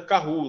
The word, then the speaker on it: Kahoot: Eu estou falando Kahoot, mas a pronúncia certa é Kahoot, né?